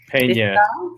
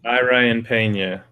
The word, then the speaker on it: Pena: Ryan, I don't know if it's Penna or Pina. I don't know how to say it, but Pena. Ryan Pena.